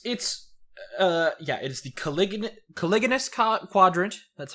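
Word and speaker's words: caliginous: Yeah, it's the Caligulous Quadrant. That's how it's pronounced.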